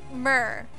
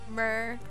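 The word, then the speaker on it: Myrrh: mir at how did mer i think is how we've just finally decided to pronounce it last time murr like the eyes mer yeah at prince of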